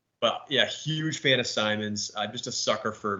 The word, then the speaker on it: Simons: It's pronounced Simons, by the way, just so we're all clear.